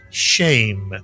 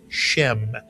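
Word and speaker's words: שם: You'll very often hear this word read as shem rather than shame. But shame or shem, it means name. And how about these two words together? Shame to or shemtove means a good name.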